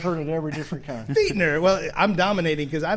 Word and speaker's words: Fichtner: Be like your feet. F-E-E-T. Fichtner.